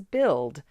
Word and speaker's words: build: four think to spell I'm going to exaggerate something so that I can hear a letter that's spelled in the word but it's not pronounced when I actually say it so I'm going